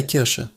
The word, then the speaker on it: Kirsche: In German, a cherry is die Kirsche. Die Kirsche. The ch sound here is soft, coming from the back of your throat. Kirsche. And sh is like osh in English.